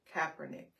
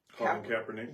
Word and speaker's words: Kaepernick: Kaepernick.